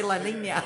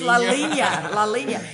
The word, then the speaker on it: La Línea: I keep saying it wrong. La Línea. I don't know why I want to say La Línea. It's not. It's La Línea.